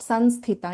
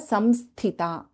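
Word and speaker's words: संहिता: hence trying to clarify samsita this is not sans theta, it is rudra samsita.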